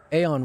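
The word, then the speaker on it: Aion: just ridiculous just ridiculous Aon was the same way or ion however you want to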